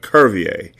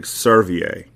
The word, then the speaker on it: Curvier: with a hard C, like Curvier, not a soft C like Servier.